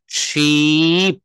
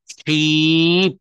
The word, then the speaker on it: sheep: তো বলছে কি দেখেন, SHEEP, এইটার উচ্চারণও কিন্তু আপনি শিপ বলবেন না। এইটা যেহেতু এখানে ডাবল ই রয়েছে, আর ডাবল ই মানে হচ্ছে সেখানে মুখের বাতাসটা একটু বেশি সময় ধরে রাখতে হবে। শিপ, শিপ।